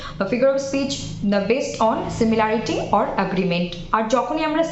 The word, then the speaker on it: simile: স্মাইলের বানান আর সিমিলির বানান গুলিয়ে যেতে পারে, কারণ উচ্চারণ টোটালি আলাদা, সিমিলি অ্যান্ড স্মাইল, but spelling কাছাকাছি বানানটা, সেজন্য একটু বাড়তি নজর দেবেন।